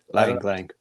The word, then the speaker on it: Lang: to see is no long um Lang Wong Lang lang lang lang. Thank you. U so used to like Latin pronunciations.